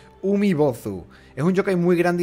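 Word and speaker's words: Umibōzu: Se pronuncia Umibozu.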